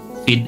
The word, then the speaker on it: feed: Sudah dijelaskan tadi ya, bahwa kalau kita ketemu dua segitiga seperti ini, itu artinya ada long vowel. atau suara vokal panjang. Nah, maka dibacanya feed bukan feed. Fed sama feed. Nah, itu beda ya. Feed feed.